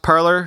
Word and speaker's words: Parler: The name was originally intended to be pronounced as in French, parler, but is often